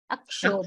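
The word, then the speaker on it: अक्षोभम्: What you pronounced first, that was correct. Akshobham. Akshobham. Bam. Bha, bha, bha, bha, bha. Mahaprana. Akshobham.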